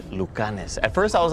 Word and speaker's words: Lucanis: Is it pronounced Lucanis? Yes, exactly. It's Lucanis.